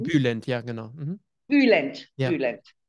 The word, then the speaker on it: Bülent: Habe ich ja auch gemacht, da war Bülent Ceylan. Habe ich das richtig ausgesprochen? Bülent, ja, genau.